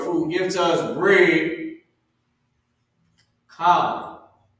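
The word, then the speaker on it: כל: Kal. K-A-L. That's how you pronounce this word.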